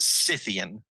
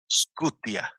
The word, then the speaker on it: Scythian: Some people are going to pronounce it Scythian. Yeah, Scythian. Okay. Scythia. Scythian. I'm gonna tell you the Slavic way of pronouncing this is Skutia.